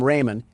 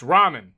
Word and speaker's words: ramen: Door Dash is on its way to deliver some Raymen, and I don't want to spill any around the pyramid floors. Uh, it it's pronounced ramen.